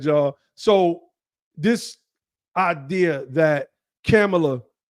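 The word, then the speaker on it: Kamala: opened up with this the reason why I started pronouncing her name as camela because I looked up how her name was said and I even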